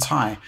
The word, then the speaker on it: Ti: a really interesting discussion there's ti and thai and uh actually you know the discussion is which one is real which one is the proper pronunciation and um basically within nvidia they basically say either but i understand that thai is short for titanium i mean i